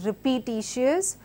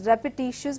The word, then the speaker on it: repetitious: So this word is not repetitious, but it's repetitious because there's a schwa in it.